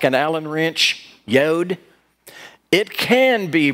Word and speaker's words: yod: like an allen wrench yod it can be pronounced as a y and it can be pronounced as a j and we don't know